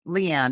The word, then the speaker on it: Leighanne: It's Leighanne. It's spelled a little interesting. Just think of Vivian Lee, Leigh.